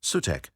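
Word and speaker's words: Sutekh: The god of storm and desert, initially considered a positive entity, SWTH, pronounced Sutta, Sitesh, Sutek, Sitek, or Sudi, called Seth by the Greeks, was the one who fought alongside Ra against the giant serpent Apophis.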